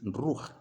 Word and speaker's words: ruach: Ruach, se pronuncia así, Ruach.